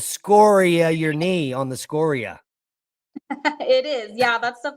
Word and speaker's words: scoria: Lava it's actually pronounced scoria geologically speaking okay yeah so the the the inflection is on the o like scoring a win score yeah okay gotcha that's